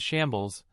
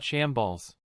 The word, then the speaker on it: Shambles: Dear, it's pronounced as shambles, not shamballs.